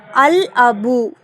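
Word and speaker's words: الأب: அல் அபு சரியா அல் அபு அலிப்லாமுக்கு அப்புறம் அலிப் அப்படிங்கிற ஒரு கமரியா எழுத்து வந்திருக்கு. சோ அல் அபு அப்படின்னுதான் அதை வாசிக்கணும். லாம சேர்த்து உச்சரிக்கணும்.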